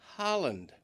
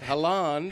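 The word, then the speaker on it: Haaland: Erling's name is pronounced Holland with an a sound. Holland. Not Halan.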